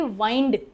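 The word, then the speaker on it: wind: और अगर आप समेटना बोलना चाहते हैं तो आप विंड नहीं बोलेंगे। आप बोलेंगे वाइंड।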